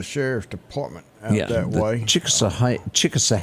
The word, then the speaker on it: Chickasaw: Chickasaw is how you say that, correct? That is correct.